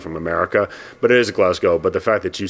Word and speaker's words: Glasgow: half southern accent from America but it is Glasgow but the fact that you say it like